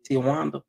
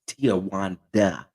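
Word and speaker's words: Tiawanda: on Instagram that did Tijuana she got that on there because a lot of people want to say her name is Tijuana or Tawana it's not it's Tia Wanda she got Wanda in there I'm guessing mama name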